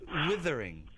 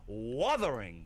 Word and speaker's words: Wuthering: She is saying Withering, but it's pronounced Wuther. It's an Wuthering.